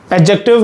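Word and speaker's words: adjective: एडजेक्टिव में ये जो डी होता है ये साइलेंट होता है। ठीक है? एडजेक्टिव में डी साइलेंट होता है।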